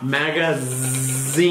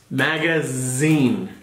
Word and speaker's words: magazine: Z, z, como una abeja. Magazine. Como una S. No, like a B.